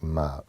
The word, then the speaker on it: Mma: ma where the M the MM accentuates the M sound but it's quite difficult to get that in English and so most people